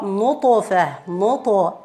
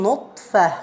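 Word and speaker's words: نطفة: No, when you say nutfa, you are closing the articulation point, and we need to open it. We need to separate the objects which are used to pronounce the ta. So we're gonna part between them, saying ata, ata, ata, and not saying ata. No, you are not opening like fatha. It is only separation. Nutfa, nutfa, ata, nutfa.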